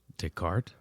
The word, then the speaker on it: Descartes: How do you pronounce the name of the philosopher that said, "I think, therefore I am." Dart.